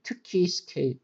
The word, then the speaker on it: 특히: So, it became 특히. Because 그 and 흐 met. 그 and 흐. So it's same for other pronunciations like 드 and 흐는 드 and 흐, 트 and 브 and 흐, 프 like this.